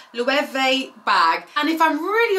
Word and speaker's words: Loewe: month is indeed this louie you know what i actually had to google how to say this brand but i think it said le vee bag and if i'm